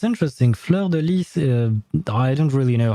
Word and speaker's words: fleur-de-lis: if you have to, because it's actually a French word. It's actually multiple words. It's fleur, then then lys.